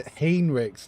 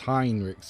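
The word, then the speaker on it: Heinrix: Yeah, Hanrix. No, it's Hinrix. Yeah. It's how it's spelled as well. It's spelled Hine.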